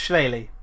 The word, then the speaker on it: Shillelagh: It's pronounced Shillelagh because it's Celtic.